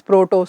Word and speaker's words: protoc: using Proto stands for it is not actually Proto I should pronounce it as protoc C stands for protocol